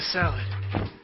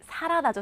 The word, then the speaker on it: salad: 여러분, 사라다가 아니라 샐러드도 아니고 salad.